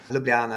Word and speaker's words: Ljubljana: I've got an extra syllable in there that you don't have. Ljubljana, that's how I would say it.